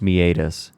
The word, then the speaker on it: meatus: yeah meet us you you told me it was actually pronounced yeah it is pronounced meatus yeah which is way fancier